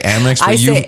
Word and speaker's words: Amex: say it amex mx i say most normal american people say amex amex it's cute baby you keep saying it it's like what is ama it's a level above amex like you think you're